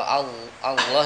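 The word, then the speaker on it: الله: Ketika dia lafzul jalalah Allah sebut di lamnya menjadi tebal ya.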